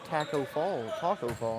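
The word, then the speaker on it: Tacko Fall: His wingspan looks like Taco Fall.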